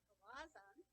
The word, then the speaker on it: Galazan: Galazan. And many have asked how to pronounce his last name. The way I remember it is there's aw in the middle of his name.